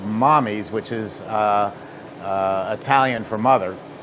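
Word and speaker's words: Mamis: called Mammy's, or Mommy's, it's spelled like Mammy's, M-A-M-I-S, but it's called Mommy's, which is Italian for mother.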